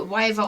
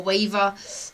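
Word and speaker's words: wyvern: It's actually a wyver. If you wyver or waver, everybody pronounces it a little bit different.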